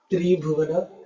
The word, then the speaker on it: Tribhuvana: So when you have a compound word, you have to read it like one word. Tribhuvana. Tribhuvana. Otherwise, the way you pronounce, right? Tribhuvana. Three girls who have the name as Bhuvana.